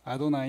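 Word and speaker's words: אֲדֹנָי: 도 요 단어만 나오면 무조건 이거를 여호와 라고 안하고 닿아도 나이라고 아도나이 는다 주님 이시죠 어 그래서 그렇게 바 발음합니다 그러니까 이제 베드로도 어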